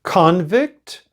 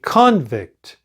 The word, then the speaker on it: convict: you pronounce this word convict that's the way it is because when it is a noun we say convict the stress is on the first syllable however if we have